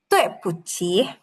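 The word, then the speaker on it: 对不起: Q-nya harus ada anginnya. Ci, tapi yang ada anginnya. Ci. 对不起. Tepuchi. Tepuchi. Coba dengerin aku, Mas. Ini kan ada nada 4. Jadi dia harus membentak.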